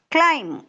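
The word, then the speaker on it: climb: சத்தம் வராது தம் தட்ஸ்ைசி எல் ஐ எம் பி நாட் கிளைம் கிளைம் கிளைம் clear once again அத சொல்லி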